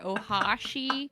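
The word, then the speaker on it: お箸: Ohashi. Actually, not the freaking aggressive freaking gaijin pronunciation. Ohashi.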